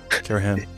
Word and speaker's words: Karahan: Karahan.